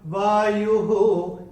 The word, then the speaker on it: वायुः: तो ये जो विसर्ग दिख रहा है हमको पहले चरण की समाप्ति पे, चरण की समाप्ति पे है, तो इसका उच्चारण केवल और केवल ह ही होगा, वायु हो, ये ऐसे करके आएगा।